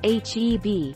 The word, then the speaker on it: HEB: howard e butt that's heb you pronounce the letters they stand for howard e butt which